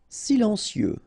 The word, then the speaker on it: silencieux: e like that psychologique silencieux final x not pronounced radioactif enregistré ok so